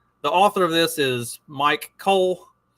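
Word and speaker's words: Myke: Also, as a preface for those who are just listening to this, the author of this is Mike Cole. It's spelled M-Y-K-E, Mike with a Y.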